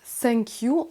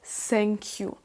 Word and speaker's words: thank you: bien c'est pas sûr attention à ne pas dire thank you en prononçant le TH comme un S c'est une faute que beaucoup de francophones font on n'a pas ce son th en français donc on va essayer de faire le son qui ressemble plus donc un S thank you si vous voulez bien